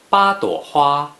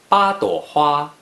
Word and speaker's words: 八朵花: Please pronounce it after me. 八朵花, 八朵花, 八朵花.